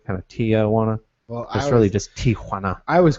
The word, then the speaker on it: Tijuana: way to pronounce it we always say Tiana and it's Tiana Tiana it's like just there's no there's no it's just TI J you know well but